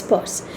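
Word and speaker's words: Peirce: first we've already talked about Saucier Charles Sanders purse often spelled as peers but pronounced as purse he was an American philosopher a logician and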